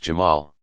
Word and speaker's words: Jamal: speak of his beauty and infinite attractiveness, Jamal, pronounced Jamal.